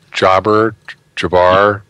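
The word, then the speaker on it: Jabr: How do you pronounce his last name? Jabbar, J-A-B-R, who is a freelance writer and an associate editor for Scientific American.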